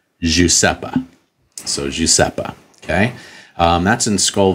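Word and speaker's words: Iosepa: the spelling is i o EPA apparently it's pronounced JEA so jeppa okay um that's in Skull Valley now that's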